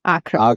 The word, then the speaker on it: Akko: By the way, Akko, in English, it's spelled A-C-R-E. Correct. Akko. Yeah. But everyone here calls it Akko. Because it's called Akko in Hebrew.